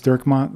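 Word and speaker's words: Dirkmaat: last name and give us your address James durmont last last name is spelled D i r k m a a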